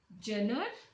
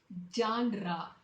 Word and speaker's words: genre: Jenner? How do you pronounce this? This has to be pronounced as genre with the 2 syllable.